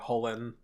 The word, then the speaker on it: Chulane: it's it's to be pronounced like Holen. Yeah, but that's it'll it'll always be Chulane to me.